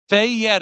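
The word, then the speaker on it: Fayette: Is it Fyet or Fet County? Fet is what they say.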